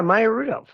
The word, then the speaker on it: Maya Rudolph: Maya Rudolph.